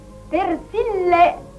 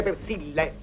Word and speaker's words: Persil: Comunque, se volete realizzare davvero i vostri sogni, compratevi Persille. Carmela, ti sbagli sempre. Non si dice Persille, si dice Persil. Una L.